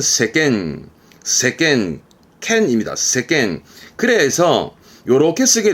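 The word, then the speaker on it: 世間: 한국어는 세간 세간이라 하면 세상을 말하게 되는 단어인데요 발음은 세겐 세겐 캔입니다 그래서 요렇게 쓰게 되면 발음은 세겜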